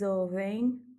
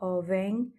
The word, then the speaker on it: ouvem: À noter aussi que le M à la fin de ouvem ne se prononce pas. Ouvem, c'est un N nasal.